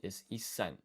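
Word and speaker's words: いっせん: a thousand or 1,000 isen. Now normally you would say like but I think because of like pronunciation rules in in Japanese you actually just say isen.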